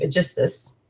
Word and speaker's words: Aeschylus: And generally it's thought that Clytemnestra and Aeschylus, or you can also pronounce his name, Aeschylus, are to some extent certainly have tyrannical qualities and can be considered tyrants.